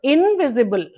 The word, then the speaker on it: invisible: invis invisible okay invisible actually it's not e sound here in spelling it is i but in pronunciation it's not it does not have the e sound it's a very very short vowel sound okay Invisible syllables invisable.